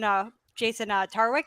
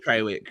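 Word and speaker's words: Trawick: Well, and now the new rumor coming out was that Jason Tarwick, is that how you pronounce his name? Treywick, yeah.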